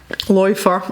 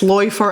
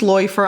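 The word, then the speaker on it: Läufer: life or it's pronounced loifer i know that because i've had this conversation it's pronounced loifer and i know that and i should know that because it's got an umlaut above the a so my friends in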